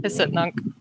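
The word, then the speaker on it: Hic et Nunc: Oh, and hen is great, or hiccup, or how do you say it actually? Hisitnunk. Hisitnunk. wait, what? Yeah. Spell that. That's not even a word. It's a sound effect. HICETNUNC. Yeah. Um, Just tasing.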